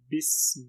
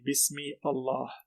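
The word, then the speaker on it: بسم الله: So we say Bismillahi. We jump straight to the lam with the shadda. We don't say Bismi Allah.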